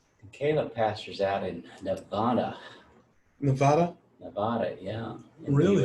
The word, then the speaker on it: Nevada: If you call it Nevada, then Nevadans know you don't live here. Nevada? Nevada is how they say it out here, which was interesting when I moved here.